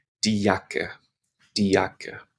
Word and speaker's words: Jacke: Die Jacke, die Jacke. So we pronounce that E on the end, die Jacke.